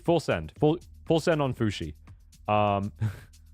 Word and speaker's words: Fuxi: Fushi. Like sushi, but with an F. I kind of like that name too. Fushi. I'm going to go with Fushi. Full send. Full send on Fushi.